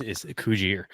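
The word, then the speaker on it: Cugir: Coogere. I always as someone who's been to the factory, it's Coogere.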